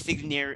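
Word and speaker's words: signare: believe i don't know oh it's pronounced it's s-i-g-n-a-r-e yes yes signer signer woman of six senegal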